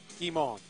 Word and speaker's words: Guimond: Guimond. French pronunciation there. Okay. It's just like Guy Boucher.